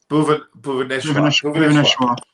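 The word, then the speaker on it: Bhuvneshwar: It seems like Bhuvanesh Kumar looks like. How do you pronounce that? Bhuvaneshwar.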